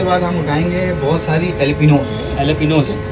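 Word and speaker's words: jalapeño: अच्छा ये इसका नाम जो ये जेलेपिनो होता है, मगर ये इसको प्रोनाउंस करते हैं एलेपिनो, एलेपिनो जे से लिखा होता है लेकिन ये जे साइलेंट होता है बिल्कुल, ये अंग्रेजी मिर्ची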